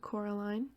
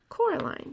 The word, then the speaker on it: Coraline: they get things wrong they got your name wrong you know they kept saying coraline not caroline not caroline at all he picked up a